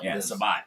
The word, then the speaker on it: Sabat: It's Sabat. But running joke is we all say Sabat. Just we pronounce it because he's so famous that we just thought it'd be funny if we up his name and everybody called him Sab.